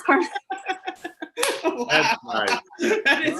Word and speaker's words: Carmen: So, it's just another sort of Spanish name with the hard C in the beginning. That's why her name is Carmen.